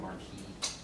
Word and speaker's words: marquis: That is pronounced a marquis.